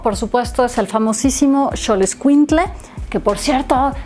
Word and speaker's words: Xoloitzcuintle: Uno, por supuesto, es el famosísimo Xoloitzcuintle, que por cierto, yo lo pronunciaba mal. Yo decía Xoloitzcuintle y no es con cle, es tle, con T-L-E, ¿no?